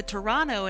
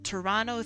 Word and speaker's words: Toronto: Uh they're doing the the Toronto thing of uh not pronouncing the T.